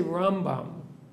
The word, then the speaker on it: Rambam: little tip right that when we say Rambam we always put the stress on the first syllable when we say from